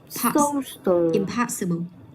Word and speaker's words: impossible: Thì bây giờ mình cần phải nhấn vào cái âm trước nó, đó là impossible.